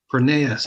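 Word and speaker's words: Pronaos: It's Prenaeus. I I should have remembered that too, right? Like Kronos, but Prenuse I don't know pronounce.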